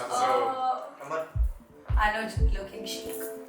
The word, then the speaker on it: Anuj: But Yeah, rhyming with Anya. So Anuj looking chic, like you looking good.